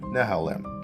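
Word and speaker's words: Nehalem: It began with the release of the 45 nanmter Nehelm micro architecture in 2008, a new design and the 32nm Westmir micro architecture in 2010 using the same Nehalm design. That's how you pronounce it.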